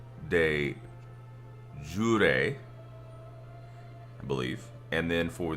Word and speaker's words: de jure: You don't say it de jour. It's not like soup de jour, which is what I was, you know, kind of basing it on.